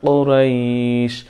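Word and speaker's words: قريش: লি ইলাফি কুরাইশ কুরাইশ কফ একটু চেপে উচ্চারণ করতে হবে কুরাইশ কুরাইশ ইলাফি কুরাইশ ইলাফিহিম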